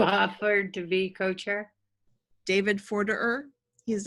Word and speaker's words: Forderer: It's actually Forderer. That's how it's spelled, E-R-E-R.